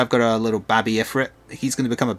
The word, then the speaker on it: Ifrit: Like right now I've got a little Babby Ifrit. He's going to become a big Ifrit eventually. And I know it's pronounced Ifrit, but a childhood of pronouncing it Ifrit has scarred me.